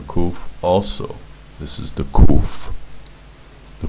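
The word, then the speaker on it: קוף: Now, in modern Hebrew, the kuf is pronounced like it's just a plain old K, but the kuf is not a K.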